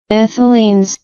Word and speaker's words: ethylene: of the as ethylene see the pronunciation ethylin yes so ethylene which is a ch2